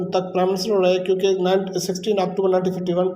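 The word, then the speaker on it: coup: ठीक है, तो सिविलियन कू कब इसे कू, उनका प्रोनाउंसिएशन कू कहा जाता है।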